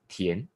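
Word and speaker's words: 田: written square with a cross IM mandrin is pronounced as ten and in meaning is a field f i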